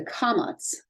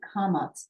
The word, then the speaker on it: kamatz: But this kamatz can also, so it makes the ah sound as in father, but it can also make the o sound or the aw sound.